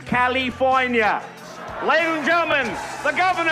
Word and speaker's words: California: It is pronounced California.